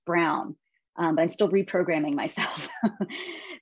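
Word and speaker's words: Braun: i just recently learned that brawn is actually pronounced brown but i'm still reprogramming myself these products just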